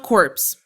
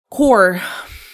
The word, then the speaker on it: corps: It is not corpse. Not course. It is core.